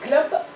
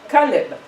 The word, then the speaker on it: Caleb: L, une maison, B, mais comment prononcer? Club? Non? Caleb.